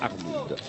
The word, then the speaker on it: Arnould: un peu Arnoud, hein, la prononciation c'est bien Arnoud, était un peu crispé.